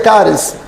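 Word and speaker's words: χάρις: Agora, a palavra graça vem do grego, caris, se escreve cares, mas se pronuncia caris.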